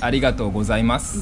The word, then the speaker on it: arigato gozaimasu: Is it just arigato? Arigato. People say like an extended version. Yes, arigato gozaimasu. Yes. Gozaimasu. Yeah, gozaimasu. Make it more polite.